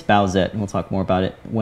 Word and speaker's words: Bowsette: It's Bowsette, by the way. That's how you say it. It's Bowsette, and we'll talk more about it once we talk about this week's project.